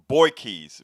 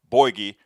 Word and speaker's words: Bouygues: then helen lee uh she told me how to say this i her name is helen lee boykies boy boy borgie helen lee borgie on fake news and